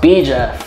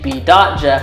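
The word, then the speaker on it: B.Jeff: jeff but it was supposed to be pronounced b jeff like literally b period jeff but everyone just kept saying b dot jeff just call me b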